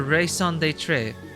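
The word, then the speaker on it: raison d'être: And it's her raison d'etre. Oh my god, how do you pronounce that again?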